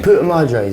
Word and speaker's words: Puta Madres: The Puta Madres. Puta Madres. The Puta Madres.